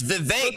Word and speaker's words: Vivek: It's Vivek. For the love of fuck his last name. None of you can pronounce his first name.